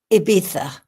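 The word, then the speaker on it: Ibiza: But I think I want to tell you the story of Ibita or as it's spelled Iita because that stands out as remarkable to me.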